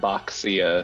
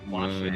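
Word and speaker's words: Baxia: right? Boxia. It's Washa. Yeah. Yeah, it is. Supposed to be Washa.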